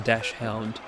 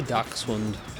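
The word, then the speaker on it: dachshund: Ducks one was a dash hound my family would say dash hound it's absolutely not a dash hound it's a dark swound sausage dog that alleviates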